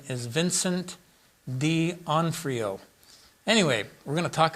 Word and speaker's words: D'Onofrio: And I think the pronunciation is Vincent D'Onofrio.